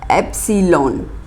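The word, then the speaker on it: epsilon: अभी belongs to का actually pronunciation क्या है, ठीक है, तो इसका प्रोनाउंसिएशन है, क्या है, एप्सिलॉन, क्या प्रोनाउंसिएशन है, एप्सिलॉन, ये ग्रीक जैसे हमने बताया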